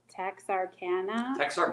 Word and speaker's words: Texarkana: and now this one i always say wrong but it's texarkana that's how you say it okay arkansas yes thank